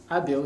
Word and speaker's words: Abel: come from uh i'm able my person we pronounce it in different ways some they call it abel some ables but i call myself